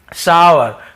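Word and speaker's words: sour: अब खट्टा, इसे हम सावर, सावर ऐसे पढ़ते हैं, ठीक है। सावर, सावर लेते हैं, सावर थोड़ा सा वो रहता है, कई लोग शोर बोल देते हैं जो कि थोड़ा सा गलत है।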